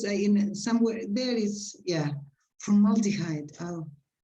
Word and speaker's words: formaldehyde: And the pronunciation is? Formaldehyde.